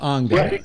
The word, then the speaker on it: Angela: It's pronounced Angela.